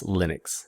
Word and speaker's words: Linux: um so just to settle that question it's linux it's lytics in this class anyway not that